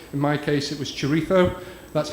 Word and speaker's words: chorizo: get at Tesco in my case it was chorizo that's how you say it they told me